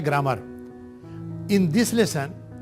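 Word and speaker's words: ليس: अब इज नॉट जैसे होता है लैसा, ये तकरीबन वर्ब की तरह है, लेकिन थोड़ा सा आपको सिखाना है। लाम के ऊपर फतहा, या के ऊपर सुकून, लय, सीन के ऊपर फतहा, लैसा। इज नॉट ये भी वर्ब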